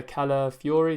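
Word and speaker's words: Kiwior: won't be playing and then the other Defender k Fury is how you pronounce it he come off during the Europa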